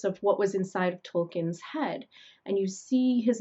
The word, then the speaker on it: Tolkien: Many of us pronounce his name a little bit lazily. We say Tolkien, and that's because when you are forced to say Tolkien, it changes your your ethnicity.